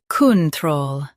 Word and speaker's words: control: Emphasize troll and keep kun soft.